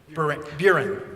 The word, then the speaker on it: Buren: Yeah, like Van Buren. All right, beautiful. Rhymes with urine.